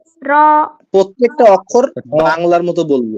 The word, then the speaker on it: ر: را را আমার একটা বদ অভ্যাস হয়ে গেছে কি, আমি যদি কোনো বাংলা অক্ষরও উচ্চারণ করি কোন নাম, তো এইটাও আমার মানে